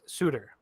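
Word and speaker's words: Suter: I believe it's pronounced Suitor um to a two-year 1.6 million dollars per year contracts so not not to be confused with Sutter not Brandon Sutter or Daryl Sutter but this he is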